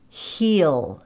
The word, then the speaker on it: he'll: heal so it's like there are a couple of different ways you can pronounce this contraction heal that has more of a green vowel e heel heel heel go he'll do it or you can reduce that vowel a little bit more so it more like